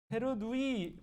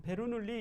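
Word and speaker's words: Bernoulli: 실로 바로 가도록 하죠 베르누이 베르 누이요 이이 두 개 있으니까 베르 리가 아니라 얘는 자기네 나라 발음대로 해줘야겠지 그죠 불어 불어로 읽는 거예요 불어 예 스위스 사람이니까 불러라고 이게 베루 눌리 이러면 안 된다 안 돼요 여러분 이름을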